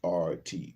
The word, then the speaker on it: Hubert: think or how I remember some of the pronunciations of certain things will go. Michaud, Hubert, and Hubert is Aubert, Hubert.